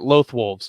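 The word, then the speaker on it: Loth-wolves: That's how you pronounce it. Lothwolves.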